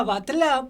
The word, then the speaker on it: Battle: Sabemos que popularmente está aceptado el, pero nos hemos informado que se pronuncia batlá por un ascendente catalán.